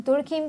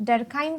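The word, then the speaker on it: Durkheim: एंड दूसरे आप thinker देखेंगे इमेल, इन्हें कुछ लोग दुर्खीम कहते हैं, कुछ डरखाइम कहते हैं।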